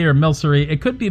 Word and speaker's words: Milcery: I'd rather pronounce it with the hard C sound for the, so it's more like milk.